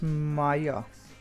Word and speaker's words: Maia: idea is to defeat how do i pronounce this it's maya let's defeat maya and uh to be